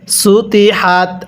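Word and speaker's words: سُطِحَتْ: পড়াটা সহি শুদ্ধ হবে না কিভাবে পড়তে হবে সুতি হাত আমার সাথে পড়ুন ওয়া ইলাল আরদি পড়ুন ওয়া ইলাল আরদি কাইফা সুতিহাত কিভাবে পড়ব ওইলাল আরদি কাইফা সুতিহাত আরেকবার পড়বেন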